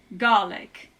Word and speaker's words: Gaelic: it's Scottish Gaelic or actually I should say garlic and I don't mean like the garlic the